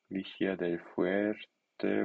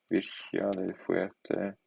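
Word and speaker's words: Vigía del Fuerte: Okay, Urrao, Virgia del Fuerte, Vigia del Fuerte. What's wrong? Virgia del Fuerte. Vigia del Fuerte. Without the R.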